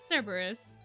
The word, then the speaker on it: Cerberus: But I thought I pronounced it Cerberus. Did I not? I've heard it said oh, I must have said Kerberos. I've heard it said both ways.